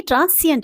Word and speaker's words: transient: देखिए वो ट्रांसेंड था, ये ट्रांसिएंट है, ध्यान रखिएगा।